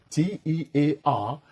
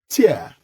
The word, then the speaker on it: tear: again remember that t-e-a-r has two different pronunciations tear from or in the eyes when you cry and tear when you rip something apart bear this in mind